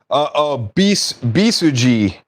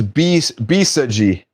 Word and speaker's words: Bisaji: Bisuji. Okay. Bisag says it's Bisaji. Bisaji. Okay, I gotcha. That's how you pronounce it.